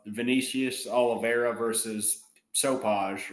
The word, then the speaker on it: Sopaj: It's Vinicius Oliveira versus Sopaj, or however you pronounce It's Sopai, dude.